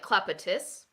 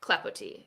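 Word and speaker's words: Clapotis: was like clap clappity actually it was like clappitus but now i know how to pronounce it clapo t so i'm really enjoying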